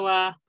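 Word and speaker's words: は: Entonces, esta se pronuncia wa. No ja.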